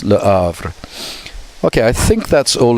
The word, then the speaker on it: Le Havre: Okay, so French often don't pronounce the H, but it's, so you would think it's Le Havre, but it's Le Havre.